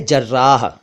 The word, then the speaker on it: जर्राह: और एक शब्द है जर्राह, लगभग मिलता जुलता लग रहा होगा कुछ साथियों को इन दोनों का उच्चारण, लेकिन ये अलग अलग हैं।